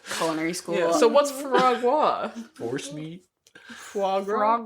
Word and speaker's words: foie gras: Yeah, so what's foie gras?